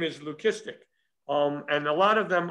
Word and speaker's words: leucistic: I don't know how to say this word, so I'm going to spell it out for you. It's L-E-U-C-I-S-T-I-C.